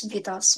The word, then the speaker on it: victuals: What does vitals mean?